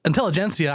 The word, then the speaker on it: Intelligencia: intensity now like it's officially gensia but that's soft G so I don't actually until intelligencia I actually don't know